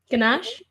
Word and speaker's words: ganache: cake, apricot jam, chocolate cake covered in chocolate ganache. I don't know if I'm saying it right. I think it's French. Ganache?